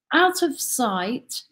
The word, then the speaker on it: Out of Site: Out of Sight, you know, as an organization, is spelled S-I-T-E, sight as in place, and we're really thinking